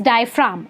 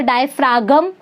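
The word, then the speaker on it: diaphragm: Okay, now the last part of the respiratory system is डायफ्राम. इसको डायफ्रागम नहीं पढ़ते हैं, इसको डायफ्राम बोलते हैं. जी इज साइलेंट.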